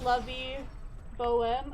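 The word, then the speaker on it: La Vie Bohème: It's pronounced Lovey Bohem.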